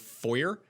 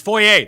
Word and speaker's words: foyer: whenever i hear an american say the word foyer and it just drives me insane really yeah it's void foyer it's fourier that's that's what it is